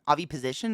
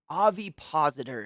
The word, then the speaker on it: ovipositor: Avi position. Is that how you say it? It's an ovipositor is how you insert an egg into someone.